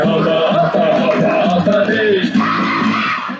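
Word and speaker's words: Håfa adai: Just pronounce it as in half a day. Sing it with a beat and say it every day. Like hoppa day.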